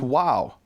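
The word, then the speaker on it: واو: The letter Vav exists in Arabic, and it's pronounced wow.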